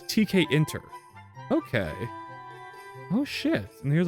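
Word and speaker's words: Tkinter: Kinter. Okay, I guess it's TK interface. Oh, so it's TK inter.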